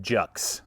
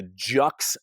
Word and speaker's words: Juxt: tell you about this a jux design j-u-x-t i believe is how they pronounce it from basque now